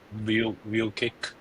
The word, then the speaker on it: Vukic: I think it's pretty clear from this that two will be view kick. We pronounce Vukic, view kick or view kick.